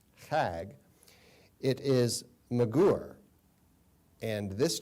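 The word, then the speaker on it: חַג: It's spelled using the English alphabet, C-H-A-G, appears to be chag. It's actually pronounced, if you consider how the Hebrews language, how they use the C and H together, it's pronounced chag.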